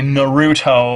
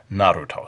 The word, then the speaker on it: Naruto: notice I don't say Naruto I just can't say it that way the Japanese pronunciation is more or less Naruto so we're going to